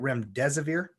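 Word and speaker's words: remdesivir: Sciences that this and am I saying it right rim des aveer you might be you know something like that that's correct windows over one of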